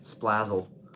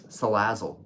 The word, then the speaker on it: Salazzle: me nervous all right splazzled okay let's this his name is splazzle oh salazzle salazzle I butchered that it's salazzle like Sizzle but salazzle okay make sure to